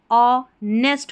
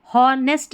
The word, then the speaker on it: honest: बाद में यह जो स्पेलिंग दे रखी है यहां पर जो एच है ना यह साइलेंट है। इसको नहीं पढ़ा जाता। तो इस स्पेलिंग का उच्चारण अ नेस्ट होगा। हॉर्नेस्ट नहीं होगा।